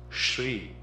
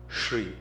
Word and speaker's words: Shri: that is mispronounced is Shri it's a palatal sound sh r e Shri when it is written